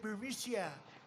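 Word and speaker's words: Burisma: the burmesa executives so this uh buremicia bermucia they say pronounce it bericia a real beautiful company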